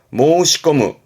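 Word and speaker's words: 申し込む: 발음은 모시아게르 말씀드린다. 아타시가 모시아게마스 제가 말씀드릴게서 말씀드리다 모시아게르. 요거 많이 보지요. 모시꺼무 말씀을 담았다는 얘기는 요게 신청 개념으로 쓰게 됩니다.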